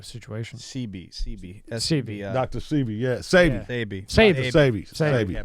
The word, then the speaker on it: Sebi: So he was about to do a documentary on him because Phoebe, and sorry for saying your name wrong, even though it's a situation. CB. Dr. Sebi, yeah. Sebi.